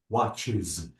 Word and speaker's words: watches: Bravo, watches. Notice that I pronounce Watches. the E sound.